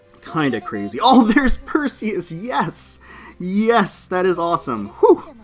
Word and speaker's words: Perseus: her design so i'm perseus from the royal navy you can pronounce it per see us if you want though well whatever are